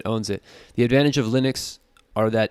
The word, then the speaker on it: Linux: mac os over windows linux pronounced len x is a family of